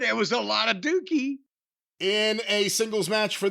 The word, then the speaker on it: Douki: It's gotta be Dookie. Doesn't it have to be Dookie? There's Dookie. Listen, Douki. How do you pronounce it? D-O-U, that's Dookie.